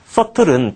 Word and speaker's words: subtle: substantial도 그것에 이제 형용사꼴이 되는 거고, subtle은 비가 묵음이 되는 거, 미미한, 민감한이란 뜻.